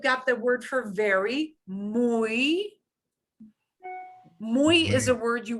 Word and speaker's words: muy: But they're all be E sounds because they're hanging off the end of the word. So I'm going to do them one more time. I, oi, muy, cuy.